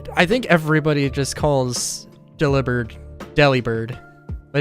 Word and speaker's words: Delibird: think everybody just calls Delibird Delibird, but it's like, but it's literally like take delivered, and just turn the V into a B, and then like phonetically, and then you've got Delibird.